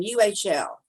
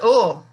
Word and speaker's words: Uhl: U-H-L. We should know how to pronounce that. I should. Well, you're muted, Mim, so. I would pronounce it Uhl. Uhl, okay. Like you are.